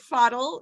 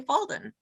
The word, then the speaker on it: Fadel: say it Fadel. Yeah. It sounds like you say Falden. Yeah, so there's no N in my name, just correction.